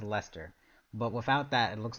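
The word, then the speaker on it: Leicester: that you s I can see it says Lester but without that it looks like a weird leister you know it looked like it would be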